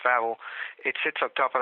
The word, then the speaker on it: Wawel: V Castle it's actually with do but it's pronounced Vel it sits up top of a hill by